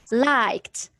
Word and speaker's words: liked: like liked liked it's you you pronounce the sound at the end why you do you know the rule so if you have the verb that ends with f k double s ch or sh or x look if you have any verb that ends with these these are letters you pronounce the end t is it clear like